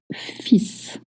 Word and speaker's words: fils: the S sound, but you don't pronounce the L that comes before.